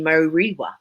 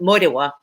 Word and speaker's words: Morewa: Yeah, my my hometown is a hometown called Morewa, and or pronounced the European way would be Moriwa, but Morewa, and its nickname was Tuna